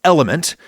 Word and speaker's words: LMNT: It's actually pronounced element, but this is a radio program, so it's spelled LMNT. Pronounced element.